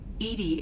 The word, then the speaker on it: EDI: are you named Edie Edie is the phonetic pronunciation of EDI that is an acronym for enhanced defense intelligence what do you do